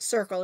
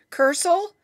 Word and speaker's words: circle: circle because it came if you were to follow the rules it would not be pronounced circle it would be kirkland you know and sometimes c is soft sometimes it's hard so is it cursel